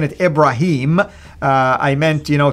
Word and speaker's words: Ibrahim: it's actually with Daya the way the Quran pronounced it Ibrahim so go ahead and elaborate on this brother